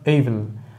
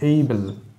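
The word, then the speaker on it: able: পারবো আই ওয়াজ নট এবল আমাদের মনে রাখতে হবে এর উচ্চারণ কিন্তু এবল নয় এবল একটি ছোট্ট রসইকারের উচ্চারণ করতে হবে এইবেল এমন ছোট্ট একটা রসইকারের উচ্চারণ থাকবে তাহলে এই ধরনের শব্দযুক্ত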